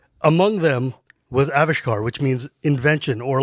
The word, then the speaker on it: Avishkar: They specified in the article when they announced this change that the stress is on the first syllable. Yeah, so Avishkar.